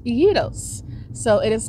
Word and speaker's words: gyro: that's actually how you pronounce gyro it's not pronounced gyro it is pronounced Yos so it is called yo ver uh oops